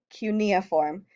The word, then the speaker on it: cuneiform: the most important is called cuneiform and that is pronounced cuneiform this is the very